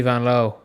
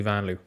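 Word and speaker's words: Vanloo: Like, her name is Julie Van Loo, but she has spoke about her own name as Julie Van Loo. That's how people say it in America, and she doesn't mind.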